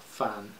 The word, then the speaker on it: fin: fin for the infinite that's Finn as in what you would see at the end of a film a fan it should be pronounced but the pun doesn't work if you pronounce it like that means the end you can't see the